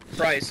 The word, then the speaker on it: Price: say his name was Christ with a C or with a p oh yeah price like price tag y'all eating people no